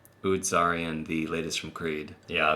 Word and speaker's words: Zarian: That includes new fragrances like Oud Zarian, which I only recently learned is pronounced Zarian like Rastafarian and not Zarian like Marion Cotillard, which is how I was pronouncing it.